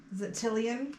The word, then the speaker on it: Tillian: you spell it because we pronounced it like three different ways come on at first it was chilling and then it was tolling and now it's totally in tillian yeah t-i-l-l-i-a-n okay and